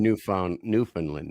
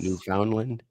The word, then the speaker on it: Newfoundland: She's from New Finland. Yes. New Foundland.